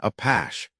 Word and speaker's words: Apaches: Craig gave it its galicized pronunciation, a pash.